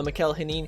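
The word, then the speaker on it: Mikel Janín: though um yeah so mikhail hanin i believe is how it's pronounced i used to pronounce it just the worst way but i believe it's pronounced uh michael henin he's a guy that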